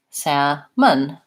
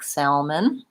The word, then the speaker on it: salmon: the vowel sound but in the word salmon we just have the vowel ah and Sam Mun the UH sound which actually is the upside-down e schwa in this word salmon for syllable stress long and short so I won't here sometimes people trying to say that L saying it more like Salman and I do think